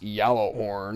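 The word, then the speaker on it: Gjallarhorn: Horn uh yellow horn it's pronounced yellow horn you know just [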